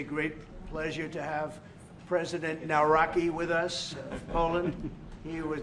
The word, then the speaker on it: Nawrocki: It's a great pleasure to have President Naraki with us.